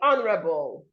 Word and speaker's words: honorable: So the H is silent. You wouldn't say honorable. You should say honorable, honorable. Notice also, I didn't say honorable. The last sound here is L, and it must be articulated.